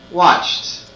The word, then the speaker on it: watched: The three sounds of ED are t, t, d, d, id, id. Again, t, d, id. Listen again to the pronunciation of the verbs. What sound do you hear? For example, watched, watched. That's right, it's the t sound, watched.